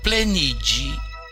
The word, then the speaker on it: pleniĝi: Mas o sufixo ge, com circunflexo, que é pronunciado G, tem o som G, que é o usado na Renaskiji. Portanto, plenigi, encher, seria encher-se por si próprio.